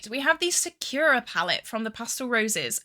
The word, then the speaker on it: Sakura: A lot of people were saying that um I was pronouncing it wrong and they were getting quite mad. Um, but I'm going to say it how I say it. The Sakura palette.